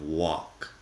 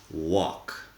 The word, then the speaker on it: walk: pronunciation of walk and listen to the fact that the L is silent walk there is a an Asian food or an Asian method of preparing food possibly called a walk with an o in the middle and that's the idea you want when you pronounce walk I'm saying it with